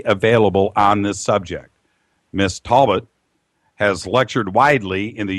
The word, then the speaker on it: Talbot: Talbot has lectured widely in the U.S.